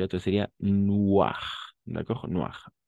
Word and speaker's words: noir: Noir. Incluso al plural vamos a pronunciar noir. La S no se pronuncia.